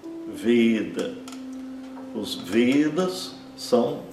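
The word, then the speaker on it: वेद: prestar atenção que ela nunca é pronunciada como nosso E aberto, sempre como E fechado, como se tivesse um acento circunflexo.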